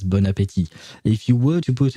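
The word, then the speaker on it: bon appétit: very end uh because you don't pronounce the last T which is why you pronounce it as bonapeti if you were to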